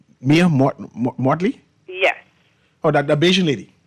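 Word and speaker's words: Mia Mottley: Tell me I'm pronouncing her name correctly? Mia Mortley?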